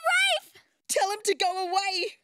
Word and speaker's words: Ralph: It's pronounced Rafe, and he's so dreamy.